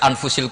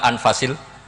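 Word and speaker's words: أنفس: Di sini ditulis anfusil kutub, selalu saya baca anfasil kutub karena maknanya kitab terbaik. Kalau kitab terbaik bacanya bukan anfus tapi apa? Anfas.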